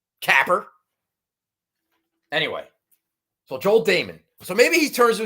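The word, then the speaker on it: Dahmen: i can gather about joel damon this week nobody calling him joel diamond huge pet peeve of mine i could understand getting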